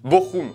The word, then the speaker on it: Bochum: away contre bochum beaucoup ça s'écrit ch un peu tout petits à l'école on a appris que le ch ça fait chier mais c'est bochum oui quoi d'autre deux ans